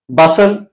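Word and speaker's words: bustle: वो क्या है या जब टी एल ई ये कॉमिनेशन आ जाए तो इसमें फिर जो टी होता है वो साइलेंट होता है कि कैसल बसल वेसल य अगर आप कॉमिनेशन आप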